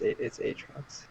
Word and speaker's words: Aatrox: Do you pronounce it Aatrox or Aatrox? It's Aatrox.